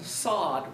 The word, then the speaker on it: SOD: come to fake cases and sod rhymes with General Zod in a bit but